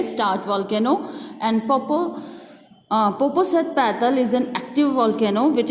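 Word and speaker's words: Popocatépetl: जैन कहते हैं मैं जानता हूँ, जैने कहते हैं मैं जानता हूँ इसे कैसे प्रोनाउंस करते हैं. इट इज़ पोपोसेटपेटल.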